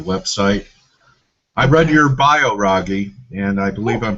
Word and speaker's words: Raghee: charts and your website I read your bio ragy and I believe I'm pronouncing your first name correctly you are absolutely